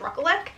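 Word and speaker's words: Rekulak: on his Instagram and I'm pretty sure it's ruckle and that is this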